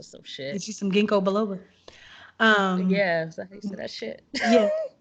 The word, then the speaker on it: ginkgo biloba: get you some ginkgo biloba.